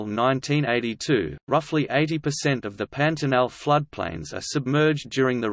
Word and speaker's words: Pantanal: The Pantanal, Portuguese pronunciation, Pantanal, is a natural region encompassing the world's largest tropical wetland area.